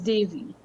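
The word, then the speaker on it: Devi: it I'm just confirming Davey or or or Deio either pronunciation could kind of go yeah no well in in Hindi you know they put the the e is pronounced like de a y dei so it's dy Yeah, it's a Davy, you know, on a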